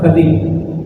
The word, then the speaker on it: خضر: احادیث میں موجود ہے، خضر پڑھا جاتا ہے، اصل جو اس کا تلفظ ہے وہ ہے خضر۔ خضر علیہ السلام وہ